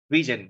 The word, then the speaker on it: vision: năng hơn các bạn đọc là Vision giọng đọc lại Vision nha Vision Vision giống như Television Vision Vision nhập revision